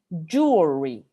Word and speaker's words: jewelry: Jewelry. Este cambio puede ser un poco complicado, ¿sí? Pero si lo vemos, se nos hace harto más sencillo de pronunciar.